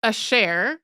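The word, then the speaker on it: Asher: name pronounce it and it's also the more French way to pronounce it and so since most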